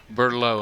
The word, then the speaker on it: Berlow: That's number 14, Nathan Berlow. I believe that's been explained to me that is the proper way to say that.